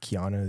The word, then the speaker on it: Keano: it to be honest it's Hawaiian so however they say it is the right way I don't actually know I I go by how um keano the actor oh yeah